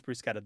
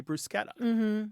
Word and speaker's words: bruschetta: Because if you watch cooking shows, everybody who makes this dish or has somebody on their show making this says bruschetta. The people in the cooking world say bruschetta, right? But somewhere between the kitchen and the table, there's a reinterpretation happening.